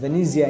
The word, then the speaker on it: Venezia: city in northern italy venice is pronounced as venezia in italian incidentally my neighboring district